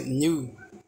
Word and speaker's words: nu: Preste bem atenção, não é N, é nu.